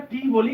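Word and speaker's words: table: এস এস এর পরে হচ্ছে টি এটাকে আমরা টি বলি কিন্তু টি হবে না এটার উচ্চারণ হবে টি ডিয়ার লিসেনারস যদিও একটু সময়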